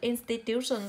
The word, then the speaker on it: institution: Những từ có đuôi son cho âm rơi vào trước son, institution rơi vào tiêu âm tiết thứ ba.